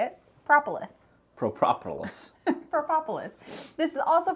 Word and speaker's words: Propolis: Propolis.